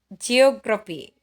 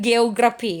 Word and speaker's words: geography: Yang the next one is geography ya, geography. Bukan geografi ya, geography.